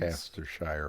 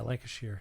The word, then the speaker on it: Lancashire: Lancastershire, wasn't it? Yeah, Lancashire.